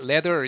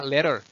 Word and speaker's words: ladder: 자, ladder 있잖아. ladder. 이거 ladder에 뒤에도 나오지만 flap 되죠. D가 이상하게 흐르죠.